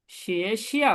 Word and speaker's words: 学校: শিয়ে শিয়াও miss কি school, এটা second আমার সাথে বলেন। এটা হবে শিয়ে শিয়াও। এটা সেকেন্ড টার্ম 学 স্কুল। 校 শিয়ে শিয়াও বলেন তো।